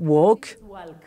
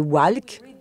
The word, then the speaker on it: walk: va peut-être le prononcer walk et on sait que si on se reporte l'excès orthographique on ne prononce pas le l mais si on fait la conversion lettre son on va peut-être prononcer walk c'est ce qu'on appelle